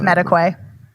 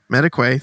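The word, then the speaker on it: Madekwe: I wish I knew how to pronounce his last name. It's Mediquay. Mediquay, thank you.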